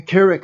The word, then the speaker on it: Carrick: Carrick. Oh, Carry O'Shea. It's Carrick. But the way it's spelled there, it sounds like Carrie Crochet.